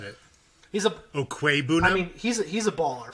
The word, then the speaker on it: Okwuegbunam: to show off that I know how to pronounce the name. So I'm going to take Albert Okwuegbunam, Yes.